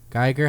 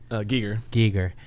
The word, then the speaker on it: Giger: And then Geiger, how do you say it? Giger.